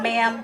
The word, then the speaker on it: mam: sheep and you know there's a reason mam rhymes with lamb ma'am yes ma'am no